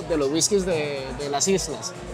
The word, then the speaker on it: Islay: los whiskies de las islas. Que no se dice Islay, se llama Isla.